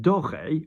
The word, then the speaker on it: doré: D''OR is d'or, which means like gold, of gold. And then doré means golden. Yes, so d'or, doré. Rose, pink.